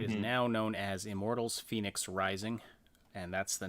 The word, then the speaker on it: Fenyx: It is now known as Immortals Fenyx Rising, and that's the name of the main character. Phoenix spelt with an F, not like the normal weird way you spell Phoenix, but F-E-N-Y-X.